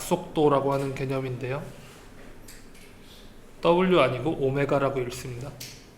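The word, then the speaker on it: ω: 또 나오다니 요건 각 속도라고 하는 개념인데요 아니고 오메가라고 읽습니다 한 바퀴 둘레를 도는데 걸리는 시간 주기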